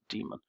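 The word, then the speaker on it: daemon: So, now what we're going to do is we're going to start we're going to start our HTTP demon. It's spelled Damon, but we pronounce it demon.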